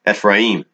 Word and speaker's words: Ephraim: No division between Judah and Ephraim, or better pronounced, Ephraim.